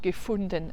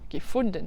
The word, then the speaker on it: Gefunden: Gefunden, avec un u, pas un ou, hein. Gefunden. Le u en allemand se dit ou.